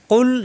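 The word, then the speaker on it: قُلْ: রাজিম বিসমিল্লাহির রাহমানির রাহিম কুল আউজুবি রাব্বি নাস কুল জিহ্বার গোড়া থেকে উচ্চারণ হবে কফ পেশ কু কুম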